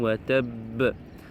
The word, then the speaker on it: وتب: Tabbat yada abi lahabin wa tab. Ici à la fin du verset, vous avez shadda aussi sur ba. Si on s'arrête, il faut montrer aussi shadda sur ba. Wa tab.